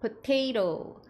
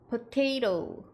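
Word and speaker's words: potato: 섭취하는 거 중에 하나죠 뒤에가 토마토 할 때 끝에 ato 끝나는 것과 같아요 이거는 PO 같이 합쳐 주셔야 되겠죠 퍼 퍼 바음 뒤에는 테 테 마지막는 토 토 하셔서 포테이토 포테이토 포테이토 포테이토 하셔도 되지만 약간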